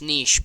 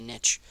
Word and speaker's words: niche: It's pronounced niche, but lots of people say niche.